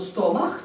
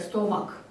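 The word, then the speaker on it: stomach: И коли в ангельской мове его нема, то стомах читается як стомак.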